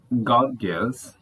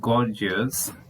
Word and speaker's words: Gorgias: could truly understand it Godus pronounced in Greek and gorgeous in English gorgeous who is one of